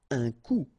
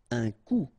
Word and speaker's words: coup: Okay, remember, accent circonflex, you don't pronounce it.